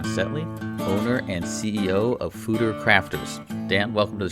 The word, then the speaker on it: foeder: This may be the first time anybody has ever heard of a foeder, and it's even spelled differently, Foeder. So it looks like foeder, but it's pronounced foeder.